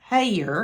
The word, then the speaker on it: Hellier: However, it is pronounced Hellier.